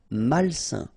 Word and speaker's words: malsain: A-I-N together, it's a nasal and it's un. Malsain.